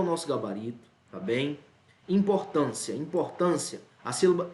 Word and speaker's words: importância: nosso gabarito tá bem importância importância a ser esse aqui é uma paroxítona porque a sílaba tônica é a penúltima e ao mesmo caso